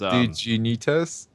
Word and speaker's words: Dignitas: It was Dignitas? yeah. Like Digimon.